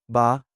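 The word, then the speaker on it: Bah: Ba is just like ba in ba humbug.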